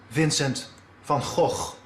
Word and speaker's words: Vincent van Gogh: come on show me the correct dutch pronunciation is vincent van gogh but please don't try